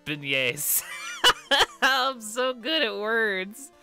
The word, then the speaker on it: beignets: um let's see beignets oh it's not bayonets it's beignets i'm so good at